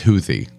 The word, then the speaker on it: Houthi: H oh yeah so we're going to use houie do you think their favorite band is like